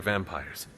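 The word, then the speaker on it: vampyres: already said they were vampires vampires with a Y pronounced exactly the same as vampires I suppose that was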